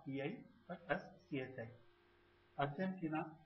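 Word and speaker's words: アルゼンチン: Argentina is pronounced as Argentin.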